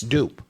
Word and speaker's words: Dupe: It's Dupe. D-U-P. Dupe. And he'd spell it D-U-P-E.